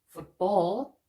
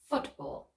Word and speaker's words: football: at some examples football it's not football but football stress on the first syllable rule number six for